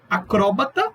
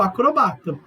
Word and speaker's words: acróbata: Tem palavras que elas têm dupla prosódia. Como assim? Você pode escolher colocar a entonação, a sua tonicidade em uma sílaba ou em outra. É o caso de acróbata ou acrobata.